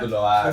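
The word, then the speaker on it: Gündoğan: Gundoan kan bacanya Gundoan.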